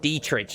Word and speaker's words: Dietrich: you god damn it I always pronounce his name wrong Jim Monica winced onto the screen dear trich date rich die trick Dietrich that's it my dearest friends Diedrich Daedric that's it like Daedric Prince's I think god damn